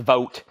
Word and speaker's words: Vogt: Aiden, that's Joshua Vogt. He's first on Days of the New. Or actually, that's pronounced Vogt.